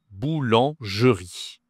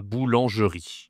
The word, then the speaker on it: boulangerie: C'est tout simplement la boulangerie. Attention, ici, tu as une nasale encore. Le en la boulangerie. la boulangerie.